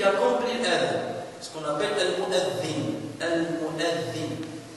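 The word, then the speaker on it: المؤذن: Généralement, vous trouverez sur le site internet des livres qu'on écrit avec mu'azzin, avec un Z. Ça, ce sont notamment les Égyptiens qui, il la prononce Zai. Or, normalement, c'est mu'adhin.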